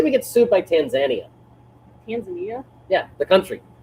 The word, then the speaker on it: Tanzania: and giggles, let's say we get sued by Tanzania. Tanzania? Yeah, the country. It's Tanzania, not whatever the hell you pronounce it.